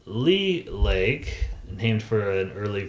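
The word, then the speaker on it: Leigh: back here this lake right here is called lee lake named for an early fur trapper that settled the area there uh richard beaver dick lee settled that area spelled lay but it's it's pronounced lee and richard beaverdick lee very interesting guy and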